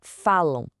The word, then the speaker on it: falam: Agora pega a palavra falam. Esse a no final não só como an, soa como a. Percebe? São dois sons vocálicos juntos.